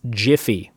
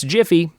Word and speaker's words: Giphy: animated pictures that is giphy or as the creator says it's pronounced jiffy which i think is